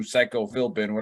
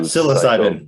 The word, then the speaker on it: psilocybin: So pay attention if you're into that voodoo psycho Philbin, however Bill said voodoo, it. Right? Yeah. Psilocybin.